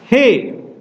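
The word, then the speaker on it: ἡ: Jadi ini ada tanda nafas. Tanda nafasnya kuat atau lemah? Perhatikan di sini dalam huruf Ho ada tanda pernafas. Tanda pernafasannya adalah tanda pernafasan kuat. Jadi harus diucapkan Ho. Sama seperti ini diucapkan He.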